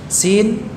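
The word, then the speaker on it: س: Zai jahr, sin hams, ya. Bedakan pengucapan antara keduanya, ya. Sama-sama mengalir suaranya, namun untuk zai tertahan nafasnya, untuk sin mengalir nafasnya.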